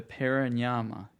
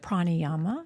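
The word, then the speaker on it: pranayama: And that brought me to a word like the breath work, the paranyama. Did I pronounce that right? Prayama.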